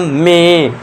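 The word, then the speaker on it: May: इसका correct pronunciation दोस्तों, हमारे ये जो मंथ महीने का नाम ये मे है, इसे हम मई नहीं पढ़ेंगे, इसे हम मे पढ़ेंगे, ये ध्यान देना है।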